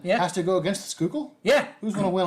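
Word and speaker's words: Schuylkill: what makes it Frank it drives on the skookul expressway drunk you had to be a philadel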